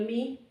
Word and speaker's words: mu: This is the capital Mi, like here, capital Mi. Because then Mi or Mu. Some people say Mu, I am used to saying Mi.